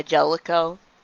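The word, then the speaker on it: Jaleco: How's it pronounced? Like Jalico? Yeah, Jellico.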